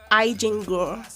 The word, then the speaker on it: Eigengrau: it's spelled EIGENGRAU. Okay.